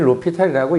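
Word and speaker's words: L'Hôpital: 원래이 사람 이름은 H로 시작하는게 맞아. 무음인 거 같아. 어 그래서 그냥 읽긴 로피탈이라고 읽는데 어 로피탈을 쓸 수 있으면 이제 그렇게 얘기를 했다고 했잖아.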